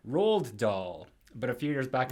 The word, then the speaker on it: Roald Dahl: But incidentally, fellas, for years I pronounced Roald Dahl like Roald Dahl.